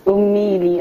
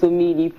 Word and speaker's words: Omeili: I want to say, I don't know, I'm always used to calling it Omeili. It's Omeili, actually. A lot of people misspell that, or misspell and mispronounce.